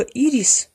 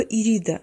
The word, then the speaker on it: Ирида: Произносите ее имя правильно. Либо Ирис, если вы не запоминаете Ириду, либо Ирида. Смотрите, чтобы не назвали ее Эридой, потому что Эрида – это богиня раздора.